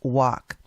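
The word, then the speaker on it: waqf: By the way, I had to go to Google to see how you pronounce this, and that's how it is pronounced, walk.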